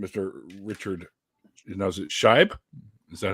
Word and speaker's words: Scheib: Now, is it Scheib? Is that how it's pronounced? Scheib, yes, correct.